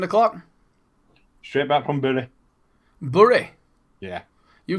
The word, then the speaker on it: Bury: Well, a lot of people call it Berry, don't they? Bury? There's no E in Bury. Well, I thought Bury's got a Y. B-U-R-Y. Bury.